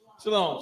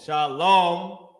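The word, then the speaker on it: שלום: Shalom. Uh with my at the end, just a M because the ah at the end is not pronounced heavily.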